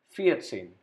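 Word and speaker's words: vierzehn: written it fear then add same to it fiat same 14.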